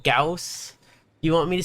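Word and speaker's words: Gauss: with, um, is, well, I only ever heard it be called a Goss cannon. Um, so it wasn't until I played Warframe that I heard it be pronounced Gaus. So I grew up with it being pronounced uh incorrectly.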